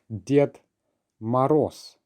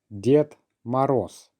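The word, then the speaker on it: Дед Мороз: It is Ded Moroz. Ded Moroz, which literally translates as Grandfather Frost.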